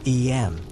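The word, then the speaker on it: Eyam: of a small English village called em pronounced em nestled in the rolling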